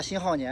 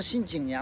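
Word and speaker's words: 辛浩年: 前那个号我念错了，我念成辛景年了，这是叫知之为知之，不知为知为不知。那个字是念浩年，新浩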